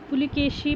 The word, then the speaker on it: ಪುಲಕೇಶಿ: ಪುಲಿಕೇಶಿ ಪುಲಕೇಶಿ ಅಂತ ಇದೆ ಆಕ್ಚುಲಿ ಅದು ಇರೋದು ಪುಲಿಕೇಶಿ ಅಂತ ಅನ್ಕೊಂಡಿದ್ದಾರೆ ಎಲ್ಲರೂನು ಕೆಲವರು ಆದರೆ ಅದಲ್ಲ ಶುದ್ಧ ರೂಪ ಪುಲಕೇಶಿ ಅನ್ನೋದು ಇದಕ್ಕೆ ಶುದ್ಧ ರೂಪ ಇಮ್ಮಡಿ ಪುಲಕೇಶಿ ಬಾದಾಮಿ ಚಾಲುಕ್ಯರ ಪ್ರಸಿದ್ಧ ದೊರೆ ಇದಾನಲ್ಲ ಇಮ್ಮಡಿ ಪುಲಕೇಶಿ ಅವರು ಪುಲಕೇಶಿ ಅಂತ ನಾವು ಉಚ್ಚಾರಣೆ ಮಾಡಬೇಕು ಪುಲಿಕೇಶಿ ಅಲ್ಲ ಅದು ಅನಲ ಪದಕ್ಕಿರುವ ಸಮನಾರ್ಥಕ